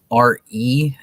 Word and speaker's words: Re: RE is how the Egyptians pronounced Ra. It was Re, and it was spelled RE in Egyptian for what letters they had for R and E.